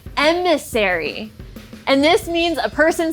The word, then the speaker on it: Emissary: but then i figured out that it's called emissary and this means a person sent on a